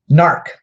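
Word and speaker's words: gnark: to use a lot narc don't be an ark and its GNA RK or g ma RK s odd the G is silent so it's not not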